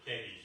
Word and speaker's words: Thebes: Well, if you look on the map, you can see Thebes, or Thebes as it should be pronounced, is just below the Red Sea, directly under the Midianites.